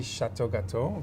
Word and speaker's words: Chateau Gateaux: difference in this company Chateau gateau dominates the frozen dessert sector in southern Africa what makes a Chateau gateau delicacy so special it's actually Chateau gateau pronouncing French but I'll let you